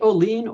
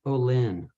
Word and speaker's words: Oline: today um is it Olene or Olin it's always like calling without a c got it I've seen